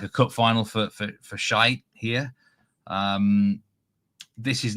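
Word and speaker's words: Skeid: I pronounce this team, the top team. It's I do believe, I've been told this many times, but I think it is shite, basically. Shite against Hedd is the actual name.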